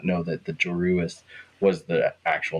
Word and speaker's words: Joruus: He's like, listen to the obvious mispronunciation of Joruus as Joruus. Right, yeah. When I was reading, I missed that there was a second U in there in the name. It was Joruus instead of Jorus.